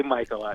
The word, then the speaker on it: Macheli: So, you could pronounce it either way, I guess, the way it's spelled, Yeah, right? I've heard it worse, so that's fine. But we do say Michael I. So. Michael is the way to go.